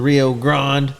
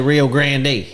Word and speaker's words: Rio Grande: we covered everybody uh maybe some people say real grande so there's there's three or four different pronunciations see it's a cowboy thing the grand down there Rio Grand is ok the Rio Grand that's what we call